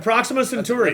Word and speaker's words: Proxima Centauri: I have no idea how to pronounce this, but it's like Proxima Yep. Centauria. Or whatever. Proxima Centauri.